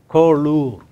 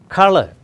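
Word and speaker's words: colour: Malayalam is pronounced as it is written, whereas you write C-O-L-O-U-R, Kolur or Kolaur, and you pronounce color.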